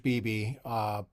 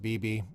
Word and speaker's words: Bybee: His last name is Bybee, I think. I think it's pronounced Beebe, but he's a Mormon,